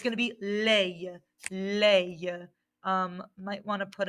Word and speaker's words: les: going to be lei leia um might want to put another like little helpful thing to help you with the pronunciation lei yes it looks like lay in english so these are our